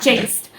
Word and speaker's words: chased: chaste tea so it's chased like c-h-a-y-s-t it's pronunciation is like that chaste so at the ending you are supposed to